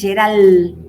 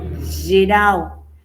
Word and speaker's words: geral: la ciudad sería Janeiro qué pasa con la l terminando palabras suena como queé como una u final de sílabas Perdón final de sílaba s aquí yo tengo esta sílaba final de sílaba sería no es balsa es bausa aquí no es Geral sino Gero aquí es auma seua y